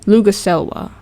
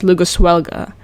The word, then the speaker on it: Luguselwa: One of the new things we actually got was the character Luguselwa right now I'm pronouncing her name right because I actually read it as Luguswelga.